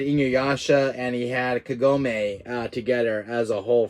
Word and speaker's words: Kagome: that's her name yeah Kagome that's her name I pronounced it properly I pronounced it wrong earlier it's Kagome I found two figures